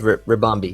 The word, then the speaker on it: Ribombee: up we have the evolution of culy uh rombi if I'm not mistaken that's how you pronounce it it is rombi yeah yeah it is bug and fairy with